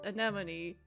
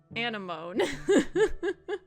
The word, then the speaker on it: anemone: is not pronounced anemone. It's pronounced anemone.